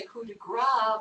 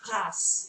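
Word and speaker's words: coup de grâce: Often, though, we do mispronounce that and say coup de grace because we sort of think that the last consonant isn't pronounced in a French word. But in fact, in this particular word, the French pronunciation is grâce.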